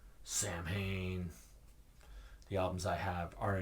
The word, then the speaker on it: Samhain: their albums right here the band is called Samhain the albums I have are initium and November coming fire well technically it's pronounced salwin whatever um I've seen interviews that Danzig did